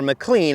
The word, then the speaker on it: McLean: Now McLean, or McLean, I've heard it pronounced both ways, was a town that